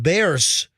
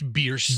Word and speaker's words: Bierce: This happened off of Bears, or how do you say it? It's Bierce. Bierce.